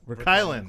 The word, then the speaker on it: VerKuilen: And, of course, setting the standard over here is VerKuilen. Did I pronounce it right? Close. VerKuilen.